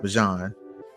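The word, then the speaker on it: Bijan: It's pronounced Bjon. So, it's Bjan Robinson.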